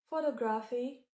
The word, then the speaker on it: photography: Compare this to photography. Photography, where the second symbol is stressed.